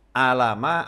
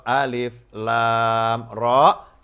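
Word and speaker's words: الر: seperti itu maka Allah tidak menyuruh Nabi Muhammad SAW membacanya Alama atau A5 tetapi Alif learn Meme atau alif lam Rock Samsul atau Yusuf pelajarannya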